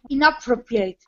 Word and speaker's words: inappropriate: Inappropriate. Inappropriate. Inappropriate. Inappropriate. Inappropriate, good. It's the ending sound, it looks like eight, but it sounds like it.